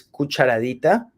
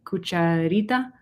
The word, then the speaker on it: cucharadita: Cuchara is the big one, and cucharita? Cucharadita. Cucharadita. Okay. Sometimes I add extra syllables by accident, so I thought that maybe that's what I was doing.